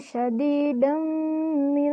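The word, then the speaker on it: شَدِيدًا مِّن: Dibaca idgham bi gunnah karena huruf dal berharkat fathah tanwin bertemu huruf mim bertasydid. Huruf mim di sini pun termasuk huruf pada idgham. Dibaca masuk dengan dengung dan ditahan sampai 3 harokat.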